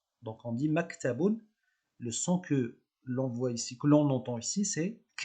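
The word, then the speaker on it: مكتب: petit accent 0, c'est un accent neutre qu'on prononce k. Donc on dit maktabun, le son que l'on voit ici, que l'on entend ici, c'est k.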